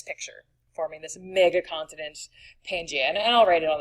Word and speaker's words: Pangaea: So there was a giant blob of land, again called Pangaea, and here's the spelling of Pangaea. There is sort of a silent A.